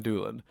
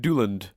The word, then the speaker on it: Doolan: You say Dan Doolan. But whenever you do Frederick, you add an extra D to my surname. Frederick Dooland.